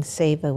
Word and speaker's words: seva: to say it right it's either siva or seva yeah keep doing seva which is selfless service